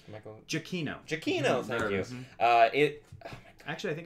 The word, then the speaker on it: Giacchino: Michael Giacchino's score, I was saying that last name correct, right? Michael Giacchino. Giacchino, thank you.